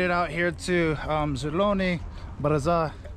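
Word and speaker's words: Zelyony: out here to um zuloni but is uh did i just say the word wrong okay i said it right then zeloni buzzer which means great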